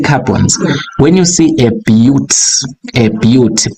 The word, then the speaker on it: but: When you see a bute, B-U-T, we pronounce this as a bute, right?